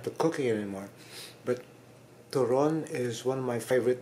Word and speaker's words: turon: Again, second syllable, turon. It's not turon. Okay? Banana cue is banana cue, okay? But turon is turon, second syllable.